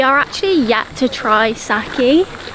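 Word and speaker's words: sake: We are actually yet to try saki. I'm pretty sure that's how you pronounce it. I think it is saki.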